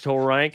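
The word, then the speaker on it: Turang: And so there's one other one that I like that's like Bryce Tang, but you say it like Lurch says you rang. So, it's Bryce Tor. Bryce Torank.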